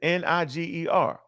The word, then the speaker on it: Niger: Simeon, that was called Niger. And why Lucius, you pronounce that like that? Because that's what it is. Niger.